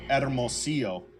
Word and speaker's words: Hermosillo: But the way that it's pronounced is Hermosillo, Mexico, which is in the state of Sonora, which is right below Arizona, below Arizona.